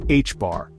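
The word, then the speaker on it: ħ: We measure this spin in units of the reduced Planck constant, often denoted as h, pronounced h-bar.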